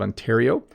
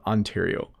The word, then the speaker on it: Ontario: is ontario what oh which is the best pronunciation ontario so i live in the province of ontario and that's how i say it this is the province of ontario i live in ontario canada um let's go